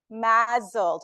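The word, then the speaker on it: MASLD: now breathe metabolic dysfunction associated steatotic liver disease mled is how it's pronounced and I will be using those terms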